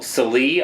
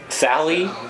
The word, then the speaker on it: Salee: Salee? I've heard it all. So it's spelled with 2 E's. I've actually been called Sale. Sale? Like garage sale, and I'm like, dude, there's 2 E's on the end of this name.